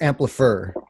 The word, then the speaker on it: Amplifr: So it's Amplifier. Right. Because it's AMPLIFR.